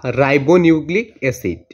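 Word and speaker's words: ribonucleic acid: তো রিবো এবং রাইবো, বা রিবো হবে বা রাইবো দুইটাই হবে।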